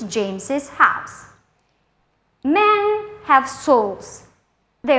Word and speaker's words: James's: These proper names end in s. They are pronounced with ziz at the end. James's book, Jesus' name.